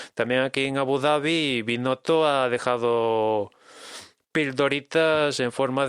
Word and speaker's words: Binotto: ¿Binotto o Binotto? ¿Cómo se dice? Binotto. O sea, no es con ñ.